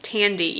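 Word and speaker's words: Thandie: is I think it's Tandy even though it's spelled t h a n d i e I don't think you say it with a th I think it's Tandy and tand is just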